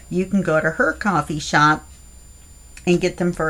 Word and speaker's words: Ko-fi: the Sweet Pea Papers coffee shop. Now, I've discovered that even though it's spelled K-O-F-I, it is pronounced coffee, so I feel much better now because Ko-Fi or Ko-Fi sounded too weird.